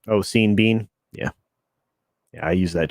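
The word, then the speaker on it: Sean Bean: for another one uh the universe thinks his name should rhyme with ryan and it doesn't oh seen bean yeah yeah i use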